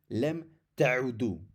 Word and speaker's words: لم تعودوا: The same, normally antum would be تعودون, but instead for the antum and the hum, the nun is replaced by an alif, which is silent. So antum لم تعودوا.